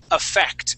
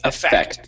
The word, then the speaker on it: effect: really good uh now this word here is effect with the accent at the end on this e here okay effect try that effect effect